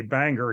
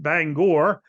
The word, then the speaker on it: Bangor: uh in Bangor Maine which we would say Banger here in Pennsylvania but I'm told it's pronounced Bangor uh that's uh 25